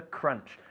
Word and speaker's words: crunch: it comes to the crunch. Crunch is written C-R-U-N-C-H, but we don't say crunch. Okay, it's crunch. Crunch, bajando la mandíbula, ¿eh?